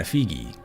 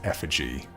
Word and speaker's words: effigy: Ooh, an effigy. I know it's effigy. I have a friend who pronounces it effigy, and I feel the need to make fun of him every time.